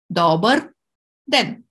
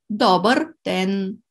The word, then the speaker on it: dobar den: Dobar den. And den, which means day. But in this case, we put the stress on the first syllable. Dobar den.